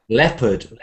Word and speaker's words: leopard: we say hello but a lot people leard leopard leopard w vow this is the other promise